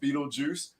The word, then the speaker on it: Beetlejuice: I don't even know what it says, So just for everybody knowing it, when you read it, it is pronounced Beetlejuice.